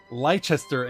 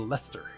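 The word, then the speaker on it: Leicester: and turn it into lester americans don't do that it's british that take a word that looks like it should be pronounced in a certain way and then omit two-thirds of the syllables from its pronunciation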